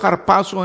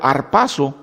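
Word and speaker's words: ἁρπάζω: que es harpazo, pronunciado harpazo en griego, sería pronunciado arpazo en español porque la H es silenciosa o silente, pero arpazo o harpazo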